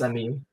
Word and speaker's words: Emil: Is that how you pronounce his name? Because I always call him Emil. Emil. Yeah, it's Emil.